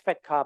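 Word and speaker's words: FATCA: Actually, it's pronounced as fat car, but I pronounce it as fat cat because there's another meaning to the word fat cat.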